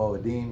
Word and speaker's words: Moedim: We call them the Moedim because that's how you say it in Hebrew.